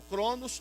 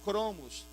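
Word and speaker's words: chronos: Ou cronos ou cromos, se pronuncia das duas maneiras.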